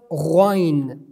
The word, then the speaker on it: غين: The next we have letter of غين. غين. غين. It should be pronounced explicitly and clearly. How is the definition? We pronounce it from end of our throat but massively, like غائبين.